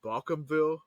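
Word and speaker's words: Bawcomville: another town in Louisiana it's called bakumville but it's spelled b-a-w -com and then bill um I wanted to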